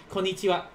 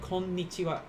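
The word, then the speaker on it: こんにちは: an eraser there are two ends here for konnichiwa like i'm kind of holding out when i say that i'm not just saying konnichiwa which when you speak quickly i guess it's acceptable but it's like konnichiwa you kind of hold there like two ends uh two ends there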